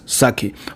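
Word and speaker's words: 酒: to describe sake so the pronunciation in Japanese is sake when you're writing is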